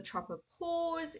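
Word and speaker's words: tropopause: top of the troposphere is the tropo PS you can say it like almost paes before the atmosphere continues okay so it's the troper pause it's around here by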